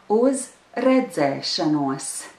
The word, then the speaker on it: redzēšanos: A safe thing to say is uz redzēšanos.